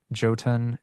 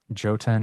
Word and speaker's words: Jotun: The word Jotun is not Jotun, it's Jotun, and I will never How forget.